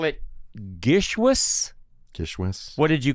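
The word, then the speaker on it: GISHWHES: So I'm going to call it Gishwas. Gishwas. What did you call it? Gishwas, I think. Gishwish? Yeah, I mean, I put a little bit more of a wez at the end than a whoosh. Gishwas.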